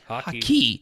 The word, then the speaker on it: Hawkey: Hawkey. Yeah. Pronounced just like the sport, slightly different, or spelled slightly different.